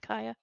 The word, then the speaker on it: Kaya: That is how we pronounce her name, Kaya.